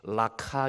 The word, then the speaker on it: 라카: 대하여 라가 이도 아가는 원래 발음이 라카 입니다 라 카 2 라카 는 유대인